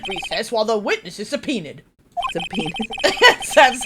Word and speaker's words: subpoena: The court will take a 30-minute recess while the witness is subpoenaed.